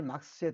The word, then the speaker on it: 마르크스: 칼 막스에 따르면, 칼 막스 이렇게 잘 써질려나 모르겠네요. 칼 막스. 지금 제가 이게 이게 막스. 원래는 이제 쓸 때는 마르크스라고 써야 됩니다. 마르크스라고 쓰고 읽을 때는 막스라고 읽는 겁니다.